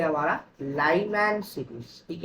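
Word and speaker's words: Lyman: नहीं बोल रहा है, ये बोल लाई नहीं है, ये है लाइमैन सीरीज।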